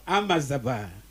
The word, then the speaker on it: Amajaaba: Amazaba. Yeah. How do you pronounce that J? That is J. Amazaba. I think the spelling is AMAJAABA. Yeah.